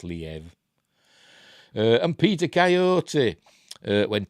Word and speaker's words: Liev: doesn't like squid but I've been told it's pronounced Liev and Peter Coyote uh when Tinseltown Came Calling